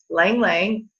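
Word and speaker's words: ylang-ylang: Lang Lang, it's spelled Y-L-A-N-G twice, is really good for high blood pressure.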